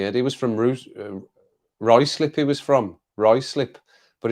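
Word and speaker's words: Ruislip: him in the head he was from root rice slippy was from Roy slip but it's built r-u-i-s-i-p honestly that's not right slip that's rui slip rice slip r-u-i-s-l-i-p lateral Lateralus Lateralus not Lateralus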